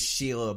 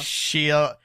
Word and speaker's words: Shia: guess like I couldn't get past the fact that it was Sheila LaBeouf. How'd you say it? Sheila LaBeouf? Shia. We have Shia. pronounced his name Shia. like 10 Shia different LaBeouf.